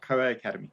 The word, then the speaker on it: COA Academy: Is it COA Academy? Good morning, Tamila. That's exactly right. COA Academy.